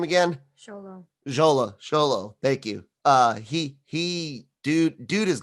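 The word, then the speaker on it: Xolo: Sholo, thank you.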